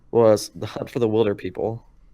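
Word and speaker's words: Hunt for the Wilderpeople: because my favorite movie of last year was The Hunt for the Wilder People. It's pronounced Wilder, people.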